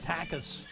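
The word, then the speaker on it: Takac: his responsibility so takas t-a-k-a-c is the spelling of his last name but it's pronounced takus will come on and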